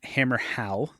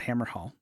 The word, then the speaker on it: Hammerhal: Hammerhal, not Hammer Hall.